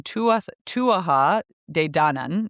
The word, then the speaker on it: Tuatha Dé Danann: And now I looked at the Celtic lore and the Tuatha, excuse me, that's the pronunciation. Tuatha De Danann is how you say it, are a supernatural people.